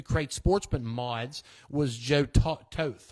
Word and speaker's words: Toth: In the 602 Crate Sportsman mods was Joe Toth. I would imagine that's how you say it, Toth.